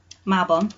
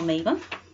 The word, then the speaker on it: Mabon: I was going to try and do the seasonal ritual for Mabon or Mabon, depending on how you say it, because that is, of course, coming up.